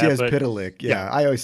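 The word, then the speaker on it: Mxyzptlk: Mixoplick, and I'm sure it's pronounced. I think now it's officially pronounced Mr. Mixoplick or something like that. Mitzias Pitalik.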